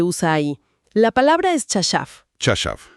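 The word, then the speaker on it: חָשַׁב: La palabra es chashav. Chashav. Se pronuncia así, chashav, con el acento al final.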